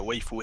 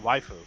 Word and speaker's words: waifu: females in his enemy oh you mean waifu yeah oh is that how you pronounce it yeah i was like wafers like that i was like [